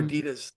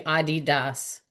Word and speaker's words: Adidas: I wore Adidas like my Well, you know, it's it's actually Adidas.